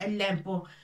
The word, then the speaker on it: لام: Ça s'écrit comme ça. Le mot de Lam.